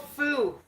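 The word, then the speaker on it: Fum: It's called Foo, but it's spelled F-U-M.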